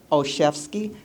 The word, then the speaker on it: Olszewski: So I have to spell it, the letter O, C-H-E-F like a chef, and ski like you're going skiing, okay?